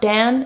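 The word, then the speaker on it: Dejan: And the J is pronounced like a Y. And there's just a little, it's not Dan, it's Dan.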